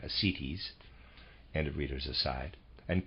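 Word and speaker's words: ascites: bloated abdomen with slight assitis readers aside i'm i'm pronouncing that it's a s c i t e s forgive me i'm pronouncing that asities end of readers aside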